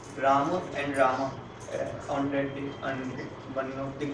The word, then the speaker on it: Rama: Generally the word is Rama, but then it is sometimes Ram. Like in addressing, it is sometimes pronounced as Ram. Ram. Either way, it's all right. You see, like there is no hard and fast.